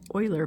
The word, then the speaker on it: Euler: going to look at Oiler paths so even though it looks like it's spelled uler um this Swiss mathematician's